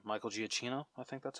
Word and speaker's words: Giacchino: Oh, Michael Giacchino. I'm gonna butcher his name. Michael Giacchino.